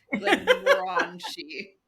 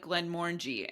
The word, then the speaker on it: Glenmorangie: Glenmorangie.